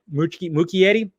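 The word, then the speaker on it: Muschietti: crossovers directed by andy muccietti which i always say his name wrong right mookie yeti the filmmaker behind the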